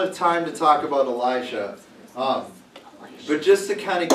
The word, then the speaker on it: Elisha: It's Elisha.